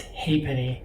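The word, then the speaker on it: halfpenny: boys often they cost only a half penny and I believe that's pronounced hey Penny in England in 1866 a clergyman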